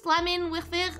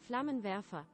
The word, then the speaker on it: Flammenwerfer: Flammenwerfer. Oh, Flammenwerfer. Flammenwerfer. Okay. So W is pronounced V.